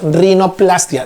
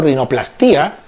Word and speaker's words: rinoplastia: Entonces ahí decimos rinoplastia, no es por si acaso rinoplastía. Revisen bien por los libros, no lleva tilde, es rinoplastia, remodelación de la nariz.